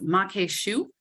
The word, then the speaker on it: maque choux: So how do you pronounce that again? I had to really practice maque choux.